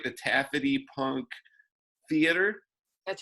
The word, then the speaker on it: Taffety: with that am I saying it right the Taffet II punk theater that's right yeah I went the